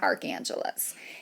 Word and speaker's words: Archangeles: the name I chose cuz it sounds like Los Angeles it's the city of Archangels it's Arch Angeles and so that's what